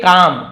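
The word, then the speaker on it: calm: के बजाय ही स्टेट काम काल में नहीं पढ़ेंगे काम पढ़ेंगे एल साइलेंट है वह शांत रहा पता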